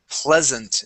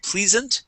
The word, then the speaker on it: pleasant: Let's start off with the word pleasant. Instead of pleasant, it is ple with a short E.